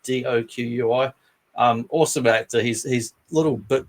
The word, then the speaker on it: Doqui: And forgive me if I pronounce his name wrong, but Robert Doqui, like Doqui.